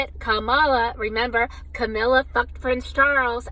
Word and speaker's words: Kamala: And if Kamala, that's how you say it, Kamala, remember, Camilla fucked Prince Charles, and now married him, so I guess I should be much more respectful.